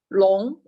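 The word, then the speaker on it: 龙: one is a jargon and the pronunciation is long and the next one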